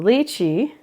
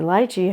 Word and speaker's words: lychee: This is the luchi or lichi, however you want to pronounce it.